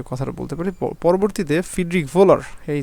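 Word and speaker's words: Wöhler: বলতে পারি পরবর্তীতে ফিড্রিক ভোলার এই যে এই যে ডব্লিউ ডব্লিউ এর উচ্চারণটা আসলে কিসের মত ভয়ের মত হয় ডব্লিউ এর উচ্চারণটা ভয়ের নাই হয় এই তিনি কিন্তু একটা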